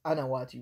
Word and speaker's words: Anawati: That's how his name would be written in Arabic, Qanawati, but I think he was a Shami, and they don't pronounce the letter Qaf in their dialect, so in Western works, and he wrote in French as well, he would write his name as Georges Anawati with an A, along with someone named Saiyad.